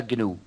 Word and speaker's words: GNU: se llama gn es decir gnu y se pronuncia gnu el nombre es un chiste pero el proyecto